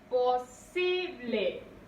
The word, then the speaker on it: posible: Posible. Posible. Recae la mayor fuerza de voz en sí.